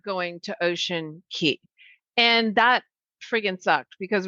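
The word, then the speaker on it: Ocean Cay: were day five we're supposed to be an ocean key which is spelled ocean c y we've been pronouncing it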